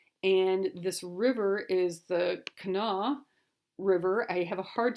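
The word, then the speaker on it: Kanawha: on this River and this river is the Cana River I have a hard time pronouncing that but it's k a a n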